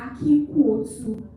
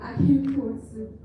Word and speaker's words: Akin Kwotu: And my name is pronounced Akin Kwotu. She didn't get that right. So it's Akin Kwotu.